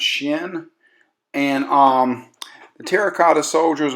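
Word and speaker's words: Qin: the emperor shenen Juan you can spell that q i n pronounce shin and um the Terracotta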